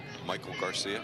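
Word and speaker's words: Maikel Garcia: Michael Garcia.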